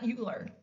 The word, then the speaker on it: Euler: Um but it is called Euler's number, not Euler. Okay? That is Euler. I'm not saying it wrong.